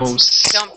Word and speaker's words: mouse: Mouse. Don't put the th on the end, or you'll have a totally different word.